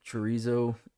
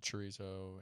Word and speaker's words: chorizo: The double R almost sounds like a D.